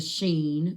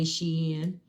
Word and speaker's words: Shein: Um everybody is jumping on the Shein bandwagon on the Sheen bandwagon, however you want to pronounce it. I say Shein.